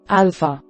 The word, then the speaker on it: alpha: A, alpha. Alpha makes an ah sound, as the in the English word father.